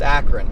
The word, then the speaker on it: Akron: In Ohio, it's Akron.